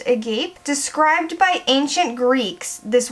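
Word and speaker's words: agape: that describes rose quartz I believe it's pronounced a gape described by ancient Greeks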